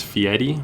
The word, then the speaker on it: Fieri: that seems scary uh i think technically it's fiery but it's like it's spelt like fiery i think a lot of people pronounce it the sauce boss the